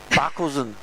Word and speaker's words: Buckleson: Just say it fast. Buckleson.